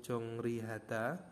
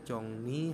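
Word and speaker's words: 정리: ini yang kedua contohnya ada tulisannya itu jongri tetapi dibacanya jongni had jongni ya conong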